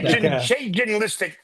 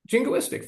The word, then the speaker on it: jingoistic: And just say ginlistic. How do you say ginlistic? Ginlistic. What is that word you used? I want that. Jingoistic? What's that word? Ginlistic. Jingoistic. Yeah. How do you say it? Jingoistic.